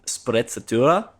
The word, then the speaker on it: sprezzatura: I think it's pronounced sprezzatura, which is like, if you're familiar with this